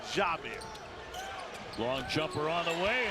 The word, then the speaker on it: Jamir: And she made sure I knew to pronounce it Jamir.